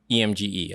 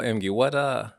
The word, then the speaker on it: Emge: And then number two, there's nothing between the M and the G, and you're just forgetting the E at the end.